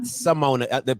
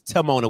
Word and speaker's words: Timona: guys, it's not Simona. They're mispronouncing your name. It's Timona with a T, like Timon, but Timona.